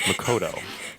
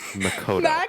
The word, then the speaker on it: Makoto: No. It's Makoto. Say it with me. Makoto. Makoto. Makoto. To. Okay, now put it together. Makoto.